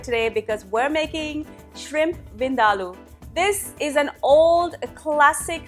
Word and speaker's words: vindaloo: And you heard me right, it's pronounced Vindaloo, not Vindaloo.